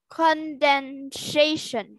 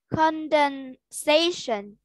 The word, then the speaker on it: condensation: vapor number four condensation condensation ah no no you you are pronouncing it with a sh and it's there's no there's no sound con station condensation good much better thanks